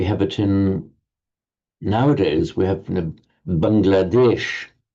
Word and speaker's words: Bangladesh: And we have it nowadays, we have Bangladesh, because that's in modern Hindi, Bengali, and the other languages in northern India, the final A is dropped. So Bangladesh, it would be in Sanskrit. So Bangladesh is how it's pronounced now, literally Bengal country.